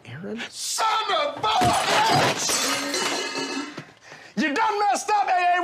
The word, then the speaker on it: Aaron: first time i said ay-ay-ron yes it's pronounced Aaron you done messed up